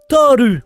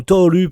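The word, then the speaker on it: Tohru: Toru, ou Thor, ou Toru pour les japingouins, évidemment, qui veulent la prononciation à la japonaise.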